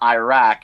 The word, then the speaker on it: Iraq: It's not Iraq.